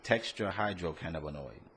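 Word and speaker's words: tetrahydrocannabinol: The THC, that's the tetrahydrocannabinoid. Wow, man, thank you. Say it again. Tetrahydrocannabinoid. That's how you pronounce it.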